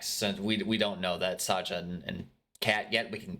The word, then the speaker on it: Sadja: And of course, Kat gets Sadja's name wrong because Sadja's Iranian, and Kat is a basic white bitch.